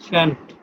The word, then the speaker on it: shan't: শ্যান্ট, Shan't. ল নাই, হ্যাঁ, লটা সাইলেন্ট হয়ে গেছে, ল Yeah.